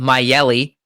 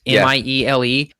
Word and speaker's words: Miele: The best thing to do is to have a HEPA vacuum, which there's one called Myeli, which is one I just purchased. It's Miele. Yeah, it's really actually, cool.